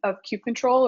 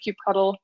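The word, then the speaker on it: kubectl: a basic understanding of cute control or cue puddle depending I don't want to start a war on how it's pronounced depending on how you're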